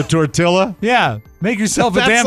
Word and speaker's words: tortilla: to this number 12 pronouncing all the L's in the word tortilla so tortilla yeah make yourself a